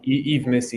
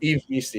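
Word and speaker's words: Yves Missi: Is it Ivis Misi? I'm not sure how to pronounce that. Eve Missy, yeah. Mm-hmm. Eve Misi, yeah.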